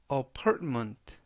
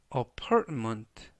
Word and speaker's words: apartment: 뜻이 되겠습니다 이번 표현은 apartment apartment apartment라고 발음하시면 되겠고요 이때 중간 부분에 있는 알파벳 티는 모음은 아니지만 발음할 때 거의 발음이 나지 않습니다 그래서 apartment라고 발음하시면 좋겠고요